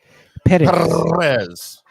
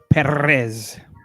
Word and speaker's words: Perez: 20 is Victor perz I think you have to say it like that like perz can you not roll your RS perz there you go I